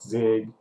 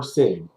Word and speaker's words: Sig: People call me Sig. Sometimes they pronounce it Zig, but I prefer Sig.